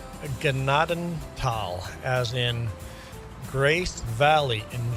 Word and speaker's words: Gnadenthal: You may have heard it pronounced as Nadenthal, but they would be wrong. This is where I grew up. It's my map. It's pronounced Gennadenal, as in Grace Valley in German.